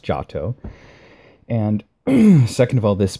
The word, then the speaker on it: Giotto: and child enthroned by giato de bondone first of all it's pronounced jato and second of all